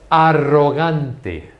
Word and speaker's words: arrogante: Arrogante, arrogante. In English, arrogant. You don't pronounce the R's as strong as we do.